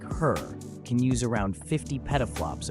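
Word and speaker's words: HRRR: Regional weather forecasting models, like the High-Resolution Rapid Refresh, pronounced her, are among the most advanced tools we have for predicting short-term weather.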